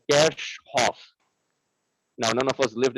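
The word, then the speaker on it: Kirchhoff: was a german physicist the actual pronunciation of this name is like cash hof now none of us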